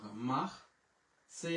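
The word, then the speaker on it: marché: কিন্তু চেঞ্জ হয়েছে দেখেন এখানে উচ্চারণটা কি এম মা এম আ এ মাহ সেই আসের উচ্চারণ তালি বসো আর এই যে ও আকস আছে উচ্চারণ হয়ে গেল কি মাহ সে এখন অনেকেই বলবেন ভাই তাহলে মাক্সে বলি কেন মাক্সে বলি এই কারণে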